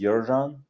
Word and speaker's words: Yerzhan: My original name is Yerzhan, but it's quite tricky to pronounce for, especially for Americans.